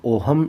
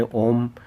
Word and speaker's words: ओम: देखो, ओम वैसे इनका उच्चारण की दृष्टि से देखें तो ओहम इनका नाम लिया जाता है, पर अपने ओम ही मिलता है किताबों में।